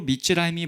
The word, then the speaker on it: 미즈라임: 심지어 미스라임이라는이 표현 자체도 우리가 깊이 생각해 볼 만한데 이것의 원래 발음은 미즈라임입니다. 근데 이것은 히브리어로 미즈라임이 뭐냐?